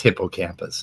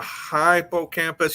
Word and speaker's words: hippocampus: fun of them for that one but it's hippocampus I'm sorry yeah but the thing is we